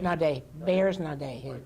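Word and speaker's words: Naudé: And one of them is Byers, and I'm going to butcher the last name, but is it Naughty? Nade. Bears Nade, he pronounced Would it.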